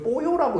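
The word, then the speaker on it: pollo: 이거 아르조곤 폴로 멕시코에는 이걸 뽀요라고 읽더라고.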